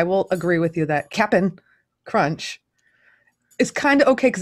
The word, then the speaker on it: Cap'n Crunch: made your number three i didn't say captain crunch i said the correct pronunciation of the cereal which is cap'n crunch yeah why why